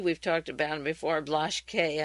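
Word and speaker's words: Blaschke: talked about him before blush K I guess in German you'd pronounce it he met with the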